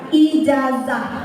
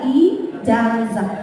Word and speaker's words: ijazah: J gitu ya jajan ijazah kalau orang Sunda apa Z itu jadi S ijazah gitu kan Nah pelafalan yang benarnya itu adalah iazah nah kadang-kadang orang-orang juga